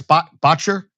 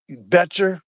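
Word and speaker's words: Boettcher: Bryce Botcher. Bryce. Bryce. Betcher. I think they betcher. Betcher. I think that's the official pronunciations.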